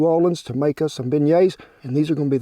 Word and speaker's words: beignets: me one of them Beignets is how you say a shin yeah was